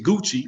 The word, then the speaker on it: Gucci: they don't even know how to say it's Gucci but they might go and buy something from